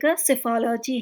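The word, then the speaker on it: psephology: is known as सिफल अब यहां पर स्पेलिंग को ध्यान से पढ़िए सेफोलॉजी है ये पीएस में पी साइलेंट है स्टडी ऑफ फ्लाइंग एरोप्लेंस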